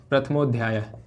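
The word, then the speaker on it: प्रथमोऽध्याय: क्या बन जाएगा, प्रथमो, और फिर ये साइलेंटली इसका उच्चारण आ के जैसा ही होता है, आ ही होता है, ठीक है, प्रथमो अध्याय, प्रथमोध्याय, ठीक है, प्रथमोध्याय, ठीक है, ये एक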